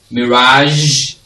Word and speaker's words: mirage: a consonant sound, and it's pronounced as j. Right, so you have it in these words: mirage, television. Most of you say television. Go and put on the television, no, Sukura. Okay, mirage, j, mirage, television, genre, like a